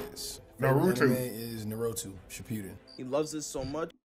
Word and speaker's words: Shippuden: You said Shippuden correct.